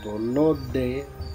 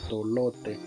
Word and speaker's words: tolote: D y D no se pronuncia igual, como tolode, D se pronuncia más fuerte, por eso se escribe con T, pero no se pronuncia como está escrito tolote, como muchos lo pronuncian.